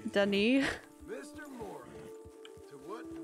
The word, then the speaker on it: Saint Denis: It's pronounced Denny.